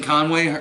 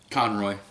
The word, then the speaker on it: Conroy: but the animated but Kevin Conway probably saying his name wrong Conroy sorry Kevin Conroy is my favorite Batman